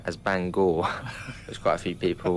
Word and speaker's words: Bangor: probably the easiest one uh well i kept pronouncing banger as bangor there's quite a few people were picked up